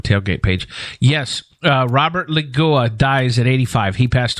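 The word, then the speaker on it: Loggia: pronounce it yeah it's I asked Paul how to say it this morning too because I didn't want to sound like an idiot but it's like loia loia or something yeah like a like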